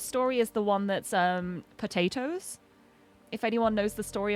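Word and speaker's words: Potoooooooo: I think my favorite racehorse story is the one that's Potatoes. If anyone knows the story of Potatoes. It's a horse whose name is spelled P-O-T-O-O-O-O-O-O-O. Because it's pot and then 8 O's.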